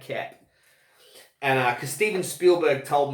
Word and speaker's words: Koepp: And it's not David Koepp like his name looks like. It's David Koepp.